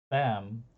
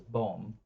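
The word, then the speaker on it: Boehm: in this case Marcus bem would be b-o umlaut h m um in German characters but in the but because it's being translated English b-o-e-h-m and then people mispronounce it as boom um it's it's in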